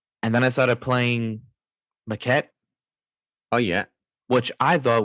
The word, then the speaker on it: Maquette: And I was like, wow, it's pronounced Maquette.